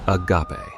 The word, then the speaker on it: agape: The first word is agape, pronounced agape.